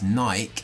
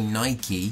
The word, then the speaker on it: Nike: It's Nike and Adidas, right? Right. We don't say Nike and Adidas.